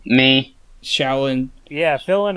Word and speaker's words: Xiaolin: Pronouncing it wrong. Me. Shaolin.